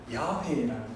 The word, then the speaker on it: 야훼: 그래서 Y랑 아, H랑 O, W랑 아, H랑 E 이렇게 붙여가지고 발음을 해보니까 야훼라는 발음이 이렇게 나온 겁니다.